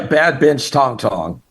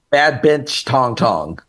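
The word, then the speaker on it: Bad Binch Tongtong: had never heard of, and I might be pronouncing it wrong, so help me. Bad Bench Tong Tong. Yeah, Bad Bench Tong Tong. Okay, all right. Say that again. Bad Bench Tong Tong.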